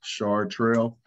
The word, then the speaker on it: Chartres: chartres hall as uh the way you pronounce my name for those on here that may be wondering char trail um i'm a minister